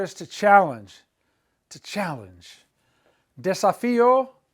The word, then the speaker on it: desafío: Desafío, accent on the I.